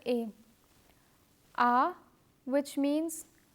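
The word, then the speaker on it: à: dalla and la baa as you can see the letter A is not pronounced differently because of the accent the pronunciation remains the same ah the axon graph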